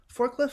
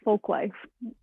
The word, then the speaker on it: Folklife: really exciting ventures at is it forklift farm jaclyn how do you say the name of the of the farm uh folklife folklife forklift folk life um but okay we